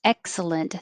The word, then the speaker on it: excellent: so in this case excellent the stressed syllable is eck but we're not going to say the k excellent excellent excellent it